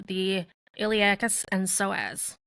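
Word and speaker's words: psoas: call the iliacus and soaz and soaz is spelled PS o so these muscles are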